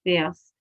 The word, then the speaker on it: fährst: We have an umlaut on the A, and we have the umlaut pronunciation, du fährst.